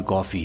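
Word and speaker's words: Coffey: है कहता है मेरा नाम कॉफी है पीने वाली कॉफी पर स्पेलिंग जो अलग है दरअसल जब भी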